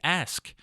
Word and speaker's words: ask: gonna decline no don't ax him you ask there's a s and a K there make sure you get that in there how about the R